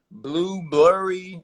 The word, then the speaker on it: Blubrry: There's Libsyn, there's Buzzsprout, there's Blurry, and it's really spelled like that. It's like BLUBRRY.